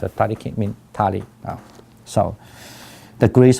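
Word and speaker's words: 他力: In Japanese is pronounced Tariki, mean Tali.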